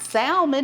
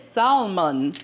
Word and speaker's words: salmon: It's not salmon, it's salmon."